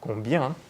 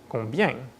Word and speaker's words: combien: That's a fairly typical accent for people from Quebec, so where most French people would say combien, les Québécois say combien.